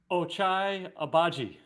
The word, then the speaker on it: Ochai Agbaji: And go ahead and give me that pronunciation again, Barner. Ochai Agbaji.